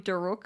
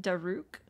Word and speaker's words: Daruk: he also they I usually say his name duruk but they pronounce it daruke I suppose even Champions